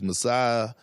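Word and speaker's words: Masai: this Toronto Toronto team I always have problems pronouncing his name but it's Messiah yeah yeah you have to give him a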